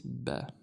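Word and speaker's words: ب: Because we have one dot on the bottom, bottom starts with B, this one is ba.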